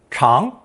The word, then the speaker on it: 尝: It's pronounced second tone, chang, chang, and means to taste, try, or experience something.